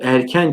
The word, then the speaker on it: erken: Erken kelimesi de irken diye yazılır. Erken diye okunur.